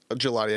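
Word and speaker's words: Gillotte: Gelati. I knew I was going to say it wrong. Yeah, it's a long E.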